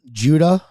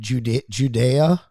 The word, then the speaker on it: Judah: today yeah she was she was mispronouncing um judah she said judea and she did it